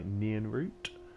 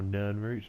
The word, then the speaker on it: Nirnroot: don't know is caused by nyan root or Nirnroot depending on how you want to pronounce it and there's actually